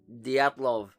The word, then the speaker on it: Dyatlov: the Diatlov before, try saying it out loud right now with me. Diatlov. If you nailed it, congratulations. You're in the club. If not, don't worry because even the Russians can't agree how to pronounce it either.